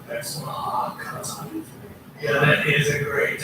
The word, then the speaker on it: Oaxaca: Oaxaca. That's Oaxaca.